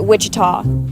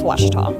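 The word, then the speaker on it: Ouachita: University back in Texas everybody from pronounces it Witchita but really it's wash wash wash how would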